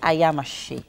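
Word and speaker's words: ayamase: Okay, so let's talk about the ingredients for the ayamashi. So I hope I'm pronouncing that correct.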